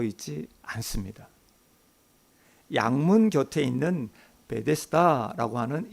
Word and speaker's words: 베데스다: 양문 곁에 있는 베데스다라고 하는 이 연못으로 발걸음을 옮기십니다. 베데스다, 헬라어의 발음상이 이렇습니다. 베이트 헤세다라고 합니다.